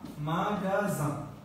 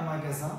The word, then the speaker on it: magasin: বলে থাকে হ্যাঁ তো যে পরে যদি একটা আ থাকে বা ও থাকে বা ইউ থাকে তাহলে এটা গ উচ্চারণ করতে হয় ওকে তাহলে কি দাঁড়ালো